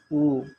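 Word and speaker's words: 五: বাংলাতে 5, চায়না ভাষার উচ্চারণ হবে উ।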